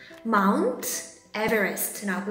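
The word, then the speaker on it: Mt. Everest: MT라고 읽으면 안 돼요. 어떻게 읽을까? 선생님이 정답을 알려줄게요. 맞춘 친구들도 분명 있을 거예요. 자, Mount Everest라고 읽어요.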